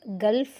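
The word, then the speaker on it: gulf: இந்த காஃப்க்கு வந்து பார்த்திங்கன்னா இங்கே எல் வந்து சைலண்ட், கல்ஃப் வந்து எல் வந்து ப்ரொனவுன்ஸ் பண்ணுறோம். Next எல்எம்லேயும் bomb, com.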